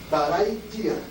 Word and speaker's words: Barai Dia: Essa sílaba é forte, mas tem que falar o I junto. Dia. Isso aí quer dizer, a tradução mais simples significa ventre. Né? Barai Dia.